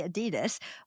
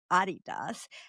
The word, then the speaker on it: Adidas: So you're talking about the famous company Adidas, although a lot of people here say Adidas, but I believe it's pronounced rightly Adidas.